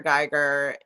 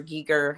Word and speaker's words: Giger: Geiger. He or Giger, however you want to say his name.